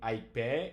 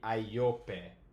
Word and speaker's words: aiope: So it's not going to be aipe, it's going to be aiope.